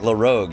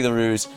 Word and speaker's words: LaRouge: Okay, I was like, my mind's like LaRogue, and then it was like, no, it came out LaRouge. Okay, thank you. Sorry. Thank you for being here, LaRouge.